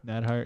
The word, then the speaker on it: Neidhart: We get, I mean, I am not someone who likes Natty Neidhart or however you pronounce it. Neidhart? Neidhart, yeah.